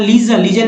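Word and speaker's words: legion: अब देखिए नंबर 23 में यदि किसी इंग्लिश वर्ड, अंग्रेजी शब्द के अंत में GION या GEON आए तो उसको जन कहेंगे, और GEIOUS या GEOUS आए तो उसको जस का उच्चारण देंगे या प्रोनाउंसिएट करेंगे।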